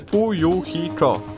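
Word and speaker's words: Fuyuhiko: Moje pierwsze imię, znaczy moje imię jest wymawiane Fu-Yu-Hi-Ko.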